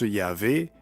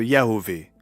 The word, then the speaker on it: YHWH: Certains le prononcent Yahvé et d'autres Yahové, sans compter les autres variantes.